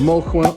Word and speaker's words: Molquin: How do you pronounce it? Molquin.